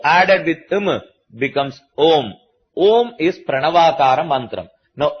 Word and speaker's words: om: know IND the OM if you divide the syllables you get three syllables a u Ma you add a plus u it becomes o you add ma to it it becomes om a ma a added